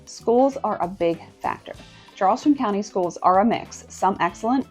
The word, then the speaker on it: Charleston: So you need to learn a few basics like how to pronounce Charleston with that soft cha and you'll fit in faster than you think. Charleston, South Carolina, which is m like this.